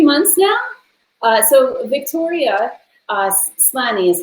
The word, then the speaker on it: Slany: So Victoria Slany is how you say your last name, right? Slany, yeah.